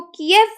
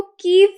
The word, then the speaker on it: Kyiv: पहले उसको के ये स्पेलिंग यूज़ किए जाते थे कीएव, लेकिन अब इंस्टेड इसको कीएव बोलने के बजाय कहा जा रहा है इसको कीव प्रोनाउंस किया जाए।